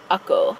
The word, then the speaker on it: Acre: So far, there's like one town that I need to go to, and that's spelled like acre, but I believe it's pronounced Ako.